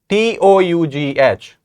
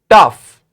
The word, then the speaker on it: tough: you with the sound so number number four t o u g h again we have the letter string o u g h but this word is pronounced as tough tough can you say it tough and we have